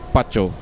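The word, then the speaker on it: Patio: Her name is spelled P A T I O, but it's pronounced PCO.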